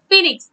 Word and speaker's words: phoenix: If phoenix is pronounced with F but it is written as P-H-O. Okay, phoenix is written as P-H-O-E. But it, when you speak it up, it you will say phoenix, F, F is sounding, but starts with P-H-O-E-N-I-X.